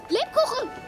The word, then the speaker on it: Lebkuchen: Lebkuchen!